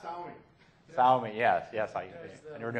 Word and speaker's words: Xiaomi: It's Xiaomi.